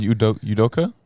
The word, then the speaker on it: Udoka: Udoka?